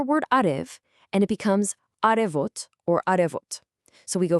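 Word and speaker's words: արև: First up, the big one, the word for sun in Armenian is arev. Listen closely to the pronunciation.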